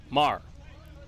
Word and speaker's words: Maher: Ryan Maher the shortstop Marr like Bill Maher Mar I got these guys